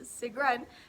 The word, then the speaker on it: Sigrun: Sigrid, or typically in Norwegian it's pronounced Sigrun, spelled S-I-G-R-U-N, means Valkyrie.